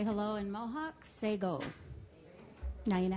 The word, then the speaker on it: Sekoh: Sego. Now you know how to say it. Sego.